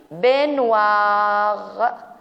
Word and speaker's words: baignoire: Ici, une baignoire. OI se prononce wa. GN, nie. Les deux, baignoire.